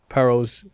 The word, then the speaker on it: Paro: Basically, and he was saying that he had trouble with Paro's. Excuse me, that's how you pronounce his name, Paro.